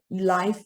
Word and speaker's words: lyf: uh launches these uh live uh code reading okay so lyfi is pronounced as live okay okay live a